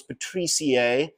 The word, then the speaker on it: patriciae: named it the philan patrier um and you pronounce patrier like you would with aoid aaer so patrier